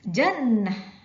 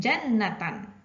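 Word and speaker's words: جنة: coba kita baca itu dibacanya Bukan jannataani anak-anak tapi jannah jannah Bukan jannatan tapi Janah bukan pula dibaca Jan Natal tidak seperti itu dan Natal tidak seperti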